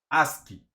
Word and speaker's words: ASCII: Entonces esta gente definió la tabla o el estándar ASCII. Y eso se pronuncia de esa manera.